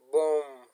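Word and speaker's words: bomb: بوم. دوستانو دا د بی توری خاموشه ده، غږ نه ورکوي، نه تلفظ کیږي، لکه بوم.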